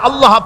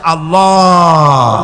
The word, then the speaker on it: আল্লাহ: আল্লাহ পাকের উচ্চারণটা হচ্ছে, আল্লাহ পাকের নাম হচ্ছে আল্লাহ। মুখটা একটু গোল হয়ে যাবে, বলেন আল্লাহ আল্লাহ আল্লাহ।